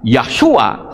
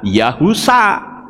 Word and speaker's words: Yahusa: Kalau Yod-he, waw, shin ayin dibaca Yahshua, saya bilang salah. Yod-he itu Yah, itu betul. Tapi kalau Yod-he belakangnya ada kata waw, ada huruf waw, itu membacanya Yahu. Shin ayin bacanya sa. Jadi Yod-he waw shin ayin bacanya Yahusa.